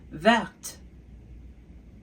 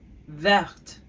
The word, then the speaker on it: verte: And the reason why I pronounce the T at the end is because there is an E after the T.